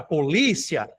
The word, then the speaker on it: polícia: A palavra polícia, li é a sílaba mais forte e ela termina em duas vogais que não se separam, né, que é aqui um ditongo também.